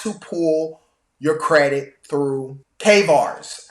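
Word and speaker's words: CAIVRS: pull your credit through Kars I believe it's how it's pronounced it's it's spelled c a i v RS they even though it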